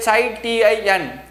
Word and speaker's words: chitin: made up of chitin chitin chi t i n you have to pronounce it as chitin chitin is nothing but